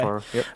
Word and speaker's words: Okoro: Is that how you pronounce the last name, TJ? Mm-hmm. Okay. Okoro, yep.